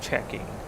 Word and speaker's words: CHKNG: And I just looked at the next waypoint, CHKNG, and that's just checking.